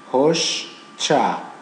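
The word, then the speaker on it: hoşça kal: This is like in English we say SH gets together and it's pronounced as sh like this. So this comma, something like this, sh. And this comma is che, you know, under C. So we say in Turkish, hoşça, hoşça, hoşça, hoşça, hoşçakal, hoşçakal.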